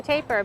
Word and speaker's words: tapir: So this is a, how do you pronounce? A tapir, Baird's tapir.